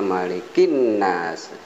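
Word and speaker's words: ملك الناس: ketiga malikinnas malikinnas ya Ini bacanya malikinnas Kayaknya ada alif lam adanya Rashid ini alif lam nya Hai hilang atau hahaha Hai tidak nampak atau tidak terbaca yang muncul adalah huruf nun sehingga malikinnas bukan Maliki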